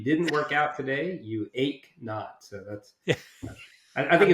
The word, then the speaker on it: Eknauth: start with the easiest part which is the pronouncing my name for everybody it's ACH not like no pain so if you didn't work out today you ache not so that's I think it's more of an